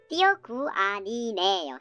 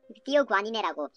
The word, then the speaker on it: thioguanine: 띠오구아니네요. 띠오구아니네. 여기서 닌이라고 발음하지 말고 띠오구아니네라고 발음하시면 되겠습니다.